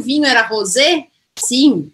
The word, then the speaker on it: rosé: O vinho é rosé, com acento no final. E aí, fato de ter o acento aqui no final, eu vou pronunciar o E. Então, muda tudo aqui, tá? Aqui eu vou falar rosé.